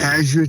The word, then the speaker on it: Azure: Um I believe you pronounce this Azure. This is really Azure. That's right.